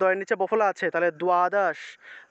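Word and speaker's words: দ্বাদশ: করেন যে দ এর নিচে বফলা আছে তাহলে দোয়াদশ দোয়াদশা দোয়াদশ উচ্চারণ করব তক ত এর নিচে বফলা আছে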